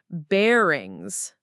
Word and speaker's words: bearings: The stress is on the verb get and the first syllable of bearings.